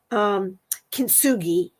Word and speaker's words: kintsugi: And so that's where this Japanese phrase, I got to look it up again because I hate saying it wrong, kintsugi, KINTSUGI, and it means join with gold.